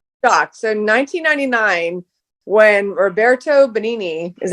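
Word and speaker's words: Benigni: So, 1999 when Roberto Benini, is that how you pronounce that?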